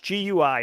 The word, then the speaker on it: GUI: This is very similar to how you navigate a GUI, or a graphical user interface, GUI. It's pronounced GUI.